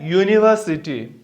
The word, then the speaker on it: university: Next, a university. Uni, U. Here also what happened? Long U sound is coming up.